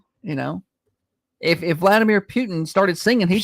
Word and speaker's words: Putin: You know, if if Vladimir Putin started singing, he'd sound American. Say it like the rest of us. Just say Putin. Why do you got to put the pew in there?